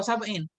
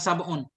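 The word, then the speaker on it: سبعين: Wa wafatuhu mi'atun wa tis'un, kenapa wa sab'in? Bukan sab'un.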